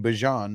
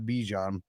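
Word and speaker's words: Bijan: That's how he said he pronounces his name, Bjon, not Bejon.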